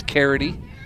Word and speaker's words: Carity: I think it's Carity. It is Carity. I heard a fan in the stands.